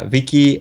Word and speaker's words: Vici: Well, Vinyl Viddy Vici. Yeah, Vicky is the Latin pronunciation, and Vicky.